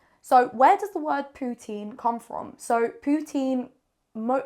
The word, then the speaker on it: poutine: it's I ne E ending you say uh putan is a very rude word I don't think I should even be saying it do not say that it is poutin so also Canadian French compared to France French